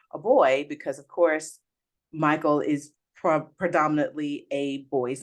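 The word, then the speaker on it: Mychal: I had this conversation my daughter's name is Michael oh really I love it and it's yeah it's spelled m-y-c-h-a-l she's gonna hate that I called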